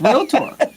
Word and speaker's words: realtor: like well you know it's not three syllables it's real Tor so technical are you